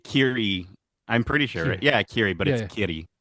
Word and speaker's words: Kiri: Kiri. Kitty. It's a R, but it's pronounced with a D. Kitty. Is it actually? Yeah, it's Kiri.